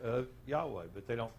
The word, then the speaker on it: Yahweh: Yud He Vav He, we pronounce it Yahweh.